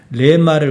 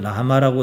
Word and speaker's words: λεμὰ: 레마를 우리 성경은 라마라고 썼습니다. 레마라고 쓰는 것이 맞습니다.